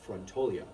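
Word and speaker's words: frantoio: And we're going to visit a traditional olive mill or a a fontio is how they pronounce it in in Italian.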